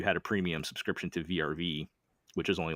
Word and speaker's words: VRV: So if anybody's not familiar with what VRV is, which I suspect a lot of people aren't, the VRV years are pronounced like Verve or something.